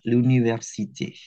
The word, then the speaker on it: l'université: J'étudie l'anglais et le japonais masculin à l'université. Nah, ini L apostrof sama A ini bacanya l'anglais ya, bukan le anglais bukan. L'université juga sama.